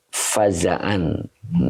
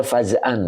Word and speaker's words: فزعا: ya Iya Lil mauti fazaan ada juga mungkin yang baca fa'an ya oke mungkin itu ya Ada juga yang bacanya fazan saya baca Faza an ya gitu jadi sesungguhnya